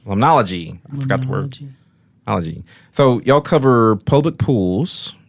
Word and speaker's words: limnology: So there's my tie-in with the limnography. There you go, limnology. Limnology. I forgot the word. Limnology.